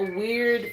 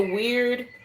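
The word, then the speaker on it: wyrd: This is like a weird faded type.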